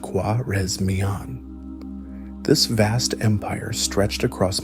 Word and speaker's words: Khwarezmian: The primary target in the West was the powerful Khwarezmian Empire, pronounced Khwarezmian.